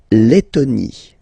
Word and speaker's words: Lettonie: La Lettonie. So remember when you've got this and then a double letter like that, T, okay, then you will have to open your and it will become Lettonie.